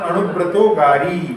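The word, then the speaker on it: अणुव्रतोऽगारी: एक ही शब्द है, तो इसका उच्चारण अणुव्रतोगारी, अणुव्रतोगारी।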